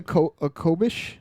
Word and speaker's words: khopesh: That could be a khopesh.